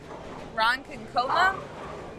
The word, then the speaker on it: Ronkonkoma: Ronkonkoma, New York?